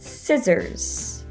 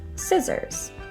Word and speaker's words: scissors: very often silent for example in the word scissors it is not scissors but scissors another silent c rule